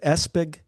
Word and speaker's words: Espig: is it Espig? Yeah, Espig, just like it's spelled.